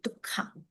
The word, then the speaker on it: dukkha: So Pali will be, instead of duk H sound, is actually assimilated, means make it easier to pronounce, will be dukkha.